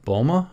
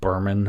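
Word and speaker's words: Böhme: inspiration to uh Yakab Bulma. And Yakab was um and I'm not saying his last name correctly because I'm not German. It's more like Burman or Burma or something. Anyway, Yakab Bulma, you'd spell it Jacob with a K.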